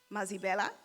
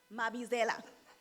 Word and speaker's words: Mabizela: Next, we have Professor Mazibela, Vice-Chancellor of Rhodes University, who's a mathematician. Did I say it right? No. No, it's not all right. How should I say it? Mabizela.